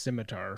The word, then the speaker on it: scimitar: pronounced scimitar.